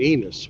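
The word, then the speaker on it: Ennis: Hopefully, I can eat a nice taco in Enos, which rhymes with penis.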